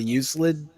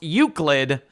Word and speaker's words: Euclid: Are you going to talk about the uselid?